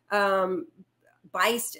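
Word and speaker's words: Buist: I think Kevin Beist, is that how you pronounce his last name? I read him on Twitter all the time. B-U-I-S-T, yeah.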